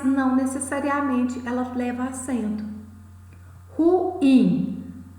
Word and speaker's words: ruim: Ruim, a sílaba tônica, a sílaba mais forte é in, não leva acento.